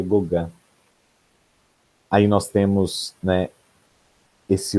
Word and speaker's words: Gauguin: É porque a gente escreve Gauguin, mas pronuncia Gauguin.